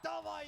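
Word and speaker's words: d4v41: And Davai's still on the rotator. You've got to be questioning, where is Davai in all of this? Envy buying as much time as possible, and Davai in from behind.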